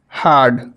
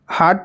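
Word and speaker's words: herd: हार्ड। क्या पढ़ेंगे? हार्ड पढ़ेंगे नहीं, क्योंकि अ है तो हर्ड पढ़ेंगे।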